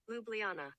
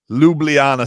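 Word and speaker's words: Ljubljana: hold on this is how you say it lublana lublana Slovenia lublana so he's gonna play one last game in lublana for Slovenian fans and Jimmy's gonna go sounds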